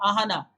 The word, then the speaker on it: Ahana: Ahana. Rhymes with Suhana.